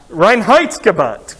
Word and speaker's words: Reinheitsgebot: I'm way too Irish to be able to pronounce this German word, Reinheitsgebot. Yeah, okay, give me some help. What is it again? Reinheitsgebot, great.